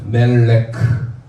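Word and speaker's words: מלך: 카프는 크 발음이죠. 그래서 읽어보세요. 멜레크.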